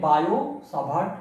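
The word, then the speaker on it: Biot–Savart: টিটা সাইলেন্ট থাকবে, বায়োসাভার্ট ল।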